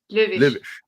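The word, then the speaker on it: Löwitsch: Lovish. Löwisch.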